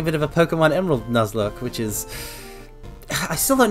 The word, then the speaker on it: Nuzlocke: Garu, you can't just spell it the way it's spelled. Lock is in lock and key. Okay, Nuzlocke.